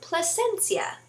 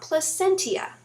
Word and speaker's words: Placencia: beach I went to placencia it is not plus sentía like I pronounced it before and then all the